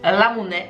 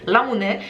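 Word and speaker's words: ラムネ: Petit fun fact sur les ramonais, en fait ça se prononce ramonais. Si on veut vraiment le prononcer à la japonaise, bon voilà avec mon accent carolo ça fait pas trop, mais ramonais. Et en fait c'est une déformation linguistique du mot anglais lemonade. Lemonade, ramonais.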